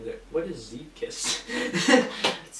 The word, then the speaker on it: Zeepkist: What is Zeepkist? It's pronounced Zeepkist? Zeepkist.